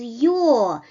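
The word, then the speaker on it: ю: above it right and the letter is your your which is also produced with a small uh gliding at the initial position you you like in English word your right so the next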